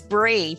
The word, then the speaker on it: Bree: My name is Bree. So nice to meet you. Hi, Bree. What a pretty name. Oh, thank you. It's kind of like cheese, but it's not spelled the same as the brie cheese.